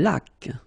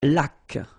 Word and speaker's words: laque: Une laque. Remember the rule when you get this QU, well, U is not pronounced, so you get k like that.